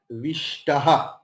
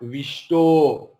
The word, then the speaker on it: विष्टः: So you just cut the O with pencil because it is not wrong. Okay. And so Kripaya Paraya Vishtaha. While we will chant Vishtaha, not Vishto.